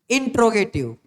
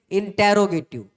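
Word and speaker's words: interrogative: कई लोग गलती से इसको मिस प्रोनाउंस करते हैं, और उसकी मिस प्रोनाउंसिएशन जो गलत होती है वो क्या होती है, इंटेरोगेटिव। इंटेरोगेटिव कोई सेंस नहीं होती, आप इसको क्या पढ़ेंगे, इंट्रोगेटिव। ठीक है, इंटेरोगेटिव मत पढ़ना आगे से, इंट्रोगेटिव होता है।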